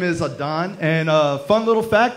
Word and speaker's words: Adan: So, my name is Adon. And a fun little fact about me is that my name is actually Spanish for Adam. But I insist on being called Adon versus Adam because I have this